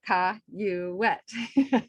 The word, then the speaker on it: Cayouette: but mine is c-a-y-o-u c-a-y-o-u-e-t-t-e but they wrote it like you sounded out Ka you wet so you know we